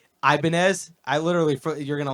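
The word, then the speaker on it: Ibanez: for like five years it was ibanes like go iban guitars and everyone's like dude it's ianz you dummy but I guess if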